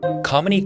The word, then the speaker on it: Kamini: Kamini created a cheat code to help people pronounce her name, spelt Kamini, pronounced Kamini, like harmony.